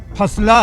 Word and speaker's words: Fa9la: इस ट्रैक का टाइटल किसी कोड जैसा लगता है जिसे अंग्रेजी में फा9 ला लिखा जाता है, लेकिन हकीकत में इसका प्रोनाउंसिएशन फसला है।